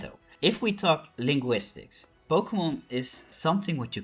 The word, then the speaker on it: Pokémon: versions of English words, Pokemon. And the accent aigu or acute accent on the E was actually added so that we don't say Pokemon.